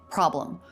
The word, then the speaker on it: problem: Normally, we would say problem. Really clear first syllable stress and a very short second syllable.